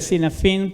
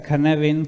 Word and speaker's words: Cynefin: Se lee Cynefin, pero se pronuncia Cynefin porque el autor es Dave Snowden, que es un galés.